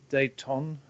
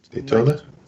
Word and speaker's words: Dayton: And then you would have to have something from the stadium tour, maybe Dayton. I'm not sure how you pronounce it. Daytona?